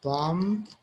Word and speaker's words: bomb: By the way, there are many words where the B is silent. So we have debt, we have dumb, we have bomb, we have lamb, we